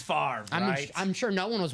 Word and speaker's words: Favre: Favor Favre. Uh, but it's far.